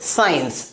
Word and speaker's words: science: SCIENCE, क्या पढ़ेंगे इसे साइंस। अगला एग्जाम्पल SCENE, क्या पढ़ेंगे सीन। अगला एग्जाम्पल SCENT, क्या प्रोनाउंस करेंगे सेंट।